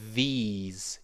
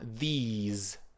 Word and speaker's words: these: in the plural, it's these, ease. Can you repeat after me? Ease. Ease. That's right. And a And a sharp z. Your Your throat needs to vibrate.